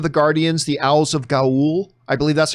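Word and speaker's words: Ga'Hoole: uh legend of the guardians the owls of gaul i believe that's how you pronounce it i talk about the same about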